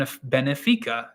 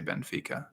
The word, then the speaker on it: Benfica: and just basically said it's Ben F not Ben a so I think of that guy every single time I I I say Benfica um I try to